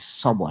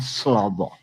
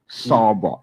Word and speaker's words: Sobo: That guy name is Sobo, not Slobo. Sobo, S-O-R-B-O-R, Sobo. The way you pronounce it in the Southeast, I pronounce it.